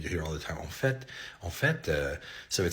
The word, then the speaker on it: en fait: So en fait, en fait, is in fact or actually.